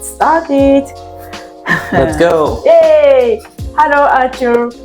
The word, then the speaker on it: Artur: Hello, Artur. Artur. Yep. My pronunciation is okay?